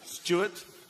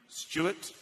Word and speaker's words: Stewart: Like Stuart with a W is pronounced like this. Stuart. Without a W, Stuart.